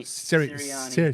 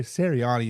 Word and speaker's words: Sirianni: Sirianni. Sirianni is going to ultimately get fired by the end of this season.